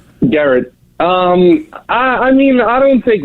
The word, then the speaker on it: Gerrit: It's Gerrit? Garrett.